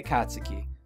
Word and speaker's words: Katsuki: I want to say Katsuki when I pronounce it, because that's how it's pronounced.